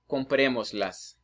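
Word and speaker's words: cómpremoslas: So it will be compremoslas. Now, remember, the verb is always more important than the object. So when you say compremos, so that's the strongest syllable. So that would have an accent, okay?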